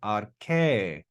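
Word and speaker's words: ἀρχή: And notice that accent mark over the eta means that we go up and down with accent on that last syllable. Arche, arche.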